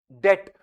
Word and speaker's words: debt: If we simply say that it means de but while speaking it is okay d. But actually the word is B E BT B is silent.